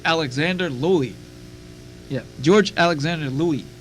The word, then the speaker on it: Louis: Yeah, George Alexander Louis, spelled like Lewis, but it's pronounced Louis.